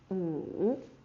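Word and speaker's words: 五: Wu. It's the third tone, it's a little bit low.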